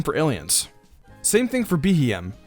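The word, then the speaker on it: Beheeyem: aliens same thing for BM when its name is pronounced it's supposed to sound like bem or bugy Monster another nickname for aliens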